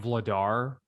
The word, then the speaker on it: Vladar: Shout out to, was it Daniel Vlader? Is that how you say it? Vlader? Dan Vladar. Vladar, yeah. He played well, man.